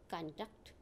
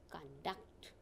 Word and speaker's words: conduct: record conduct contain etc these words have stress on first syllable when they are nouns or adjectives now see the pronunciation carefully rock on contact contain see again recall conduct contain these words have